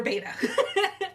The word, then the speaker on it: betta: up going with was another beta uh or betta i'm not i've heard people pronounce it both ways after watching all the